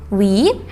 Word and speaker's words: Wie: Wie, a long E like in tree, ist dein, dein Name.